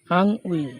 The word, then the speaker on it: ennui: আং উই, এটা হলো ENNUI, আং উই মানে অবসাদ।